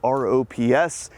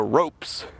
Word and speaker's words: ROPS: that abbreviation rops and refer to this as the ropes anybody here in the store is gonna pronounce this as rops if we're saying that abbreviation which does happen there's no e in that word it's not a rope it's a rops now most everyone would know